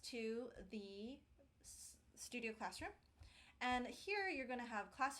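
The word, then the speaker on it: H.E.R.: class strip down songwriting with her HR but I think she pronounces it her um so as somebody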